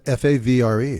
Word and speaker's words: Favre: to say it but you can't pronounce the r before the V it's right the fav favra favra that's it yeah well they don't say bet fav but they do say Favre Favre they do all